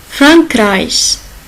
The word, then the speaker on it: Frankreich: Sinon, en général, avec les autres lettres, il se prononce sh. Ich, c'est moi, je. Le premier personne de singulier, je. Frankreich. Ok? On entend bien? Frankreich, c'est la France.